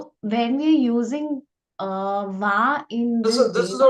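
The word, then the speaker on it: は: So, Sensei, so for the topic we are pronouncing the particle as va. So, will we get confused, like when we have to pronounce it ha, we will be pronouncing No, va?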